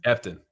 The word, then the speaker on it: Efton: Efton.